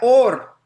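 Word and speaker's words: עור: Se pronuncian igual, or, pero or con aleph es luz y or con ayin es piel.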